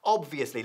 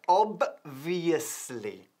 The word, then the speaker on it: obviously: La B es muy fuerte, pero el problema aquí con la pronunciación, y por eso es tan importante hacer un poco de meditación ahí, cantándolo, es que tenemos la B seguida, enseguida, por una V, de las nuestras.